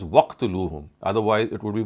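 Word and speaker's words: وَاقْتُلُوهُمْ: So when we read it collectively or jointly, it would be pronounced as waqtuluhum. Otherwise, it would be wa uqtuluhum.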